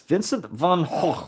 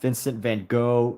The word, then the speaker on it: Van Gogh: you know but yes Vincent van H is not pronounced Vincent Van go not van uh it's just it's h according to the Dutch which he was a Dutch artist so Dutch people obviously